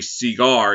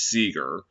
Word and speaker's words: Seager: I remember did that in MLB on TSR debut in 2021 called Corey Seager. It's Seager.